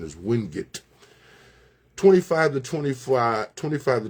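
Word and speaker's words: Wingate: A lot of people say Windgate, but I was told that the correct pronunciation is Windut.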